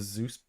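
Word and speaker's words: Seuss: Zeus book. Is that how you pronounce it or is it pronounced something else?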